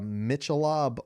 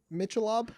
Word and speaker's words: Michelob: Michelob? Ah! That's pretty much how it went. He was like, you mean Michelob? I was like, why the fuck do you spell it that way?